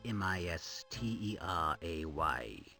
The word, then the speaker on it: Mystery: Were he here, I'm sure Mystery, that's Misteray, would excuse your common mispronunciation of his name.